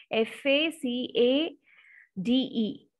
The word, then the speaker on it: facade: if you see here the spelling is what f a c a d e but you have to pronounce this as facade facade facade means frontage